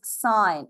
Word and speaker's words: sine: This is not sin, it is sine.